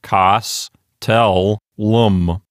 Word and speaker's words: castellum: Well, let's take a look at the penult and see if it's a long syllable or a short syllable. The penult is T-E-L. Let's ask ourselves a couple of questions. First of all, does that syllable contain a long vowel? No, the E is short. There's no macron over it. Is it a closed syllable? Aha, yes, that particular syllable is closed.